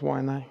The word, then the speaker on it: Waianae: So I say Y&I. Yeah. What's the right way to say it? Oh, it's Y&I.